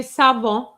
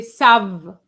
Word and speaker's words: savent: So you can't say savant. You have to say sav and you stop at the V because ENT silent.